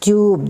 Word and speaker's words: tube: for top it becomes tube this U pronounce as u tube Cube Tube when magic